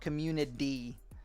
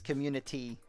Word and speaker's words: community: how i've been feeling there's a t in community i know right it's not a d it's not community it's community i know i should